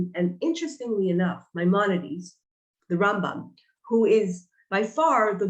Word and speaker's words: Rambam: And interestingly enough, Maimonides, the Rambam, who is by far the most I guess